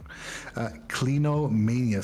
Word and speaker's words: clinomania: oh boy oh boy plinomania i hope i'm pronouncing that long time correct clinomania c-l-i-n-o-m-a-n-i-a clinomania it's it's used to